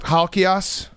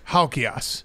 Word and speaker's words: Halkias: Halkias? Really good, actually. Pretty close? Actually, that's how it... The as is a real Greek pronunciation. Most people butcher it. You nailed it. Okay. Yeah. Stavros Halkias.